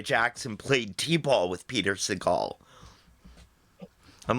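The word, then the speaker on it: Sagal: No, it's Segal. He doesn't have a ponytail. When I'm trying to rhyme with t-ball, it's Segal.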